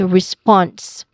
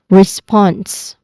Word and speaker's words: response: It is a consonant cluster also. Okay. So you say it as response again response. All right.